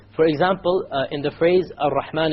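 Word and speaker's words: الرحمن: You cannot allow the tongue to roll. Ar-Rahman is a mistake. Ar-Rahman Ar-Rahim. No rolling.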